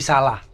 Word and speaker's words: Solo: Kongres PSSI 1938 di Salah, Solo. Ya, Solo. Kan membacanya salah. Bener. Tapi setahu emang Bung Karno itu harus maksudnya pernah ngingetin untuk yang benar itu bacanya salah.